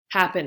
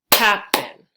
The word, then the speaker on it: happen: And then happen is happen, happen. So the stress is on the first syllable, happen, versus begin.